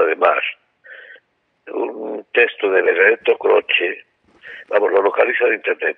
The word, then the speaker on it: Croce: Y luego Croce, que es C-R, Croce, yo digo. Sí, es como se pronuncia en italiano, pero es Croce.